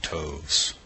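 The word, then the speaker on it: toves: that has often been asked me how to pronounce slyy toes the eye in slyy is long as in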